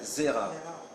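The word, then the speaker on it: זרע: On l'appelle Zera. Zera, ça s'écrit Zain, Resh, Ain.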